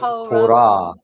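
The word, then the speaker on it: תורה: So, not to, it's tora. Torah. The accent on the last syllable.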